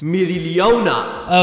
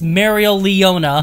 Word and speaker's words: Mereoleona: None other than the uncrowned lioness, Mereoleona. Okay, first of all, Otto, you mispronounced her name. It's Mereoleona.